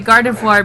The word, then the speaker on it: Gardevoir: V O I R. Noir. Like like for example, like the word for black. Noir. Wait, wait till my guard. Yeah, Gardavoir. That's why I say Gardevoir because it follows the same principle of noir.